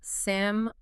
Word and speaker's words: salmon: The correct pronunciation is seam senu without being completely silent. So it sounds like samun.